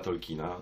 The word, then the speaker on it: Tolkien: literatury Johna Ronalda Reuela Tolkiena, zwanego potocznie w Polsce Tolkienem, obydwie te wymowy są poprawne, chociaż ta właściwa, taka jakiej używa rodzina, to jest wymowa Tolkien.